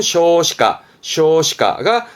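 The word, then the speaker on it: 少子化: 그 저출산을 말할 때 소자화 발음은 쇼시가가 저출산으로 쓰여집니다.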